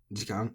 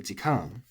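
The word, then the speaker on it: 時間: So when this is said as its own word, jikan, it's flat.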